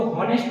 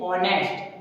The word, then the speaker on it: honest: तो इसे तो हॉनेस्ट पढ़ना चाहिए, हम ऑनेस्ट क्यों बोलते हैं? तो दोस्तों एच है वो क्या है? एच हमारा साइलेंट है। हम किससे स्टार्ट करते हैं? ओ से करते हैं। That is ऑनेस्ट। क्या होता है? ऑनेस्ट, ना कि हॉनेस्ट। हॉनेस्ट रॉन्ग है, उसको पढ़ते हैं ऑनेस्ट।